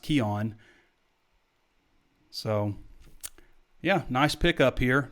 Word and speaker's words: Keuan: good in that Razorback Jersey it looks like ke uan looks like qq1 but it's pronounced kyon so yeah nice pickup here number four hundred